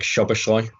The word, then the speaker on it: Szoboszlai: final question everyone seems to want uh dominic shabashoy and i have checked the pronunciation for that because it's uh there's a